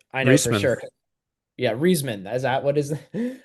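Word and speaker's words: Reisman: Yeah, Reeseman. Is that what is how you say it? I don't know if you Yeah. George Reeseman.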